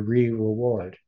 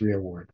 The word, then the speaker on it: rearward: Israel will be your rear reward. Good. He is the vanguard and the rear guard. I think it actually should be pronounced rearward.